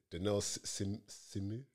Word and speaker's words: Dynel Simeu: Even though I asked, is it Dynel Simeu?